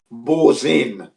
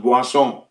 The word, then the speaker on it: Boursin: The brand is known as Boisson. That's the pronunciation. When you look at the word, if you read it in English, it's like Boursin. Boursin. I think it's Boursin, something like that. But it's pronounced Boisson.